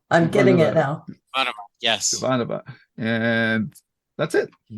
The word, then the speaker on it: Ivanova: But okay, and we're still getting feedback that we don't know how to pronounce Ivanova's last name, and Ivanova. I'm getting it now. Ivanova, yes.